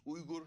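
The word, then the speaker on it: Uyghur: so uh the what the West calls weager Turks the that's the Americanized version of saying it it's Ur Turks is the way that they pronounce name uh I'm not actually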